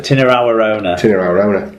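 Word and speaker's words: Tinirau Arona: Well, how do you pronounce it? Tinarawarona.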